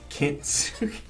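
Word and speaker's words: Kintsugi: It's Kitsugi.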